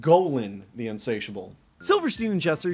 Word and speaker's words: Golan: fro they also developed the unforgettable fox cartoon Gan the insatable what it it's pronounced Golan the unsatiable Silverstein and jesser shared a lot